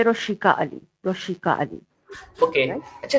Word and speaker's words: Roshiqua Ali: जी आप सही ले रहे मेरा नाम है रोशिका अली रोशिका अली ओके अच्छा तो सबसे पहले आप